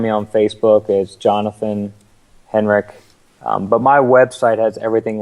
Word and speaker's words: Henrich: And just so you know, it's spelled Henrich, but it's pronounced Henrich. So it's spelled with a CH at the end there.